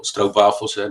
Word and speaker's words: stroopwafels: privately, and he said, I got the little stroopwafels, that's how you pronounce it.